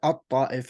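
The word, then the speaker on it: الطائف: the map that says At-Ta'if or Al-Ta'if, A-L, but again the L is silent. At-Ta'if is how it's pronounced.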